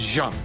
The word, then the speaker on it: Jeanne: This is Jeanne, and for all of you people in the United States as ignorant as me, it is not Jeanne, it is Jeanne. So, said it wrong once, she corrected me.